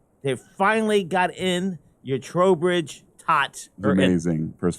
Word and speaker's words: Trowbridge: I'm with Trowbridge.